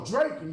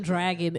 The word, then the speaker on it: Draken: No, Draken, that's Draken. Draken. Draken. Draken. It's Draken. Not me calling him Dragon.